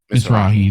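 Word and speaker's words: Mizrahi: Moranzi Morazzi. Misrai. Mrahi. That's it.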